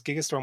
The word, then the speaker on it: Gigastorm: It says because Gigastorm with a soft G as Doc Brown intended.